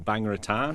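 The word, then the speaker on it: Bang Rajan: and action Thai style uh bang Regan or bangaratan I'm told is the correct way to pronounce it is uh a film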